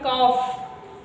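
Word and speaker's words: calf: ऐसा मत करिएगा कि कफ ओ सॉरी कल्क पढ़ दो है ना सी ए एल एफ क्या पढ़ोगे काफ क्या पढ़ना है काफ एल आपका क्या हो जाएगा बेटा साइलेंट हो जाएगा एफ क्या हो जाएगा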